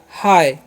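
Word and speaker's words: hi: ही भी पढ़ लेंगे, तो ही नहीं पढ़ना है। इसका क्या उच्चारण करना है, ह, और आई का उच्चारण करना है आय, तो हो गया हाय।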